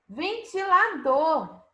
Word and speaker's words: ventilador: Ventilador. Qual a sílaba tônica dessa palavra? Qual a sílaba mais forte? A sílaba mais forte é do, ventilador.